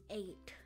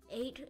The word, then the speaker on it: eight: number the next is eight eight is a little complicated to spell because it has a lot of like silent letters e g HT 1 2 3 4